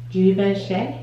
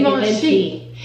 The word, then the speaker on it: Givenchy: Givenchy. Shoot, that was wrong. I want to say Givenchy.